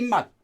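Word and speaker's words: 맛: uh we rewrite this mu e mutt is how you pronounce it but you mouth flavor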